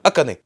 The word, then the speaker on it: Akane: Ça se prononce Akane. Voilà, Akane.